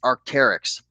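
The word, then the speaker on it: Arc'teryx: The brand is pronounced Arcterics. Arc, that little apostrophe. T R YX. Looks like this is the Fision SV style jacket. Large, great condition. Arcterics.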